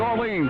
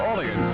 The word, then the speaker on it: Orleans: It's Monday, and this is Tucker with Orleans, or Orleans. Depends on what part of the country you come from, how you say it.